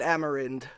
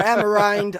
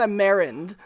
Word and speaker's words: Amerind: At least pronounce it Amerind. Or Amerind, I don't care, but come on, not Amerind.